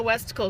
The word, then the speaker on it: Westicle: Yeah, I always know Westicle because his name rhymes with testicle.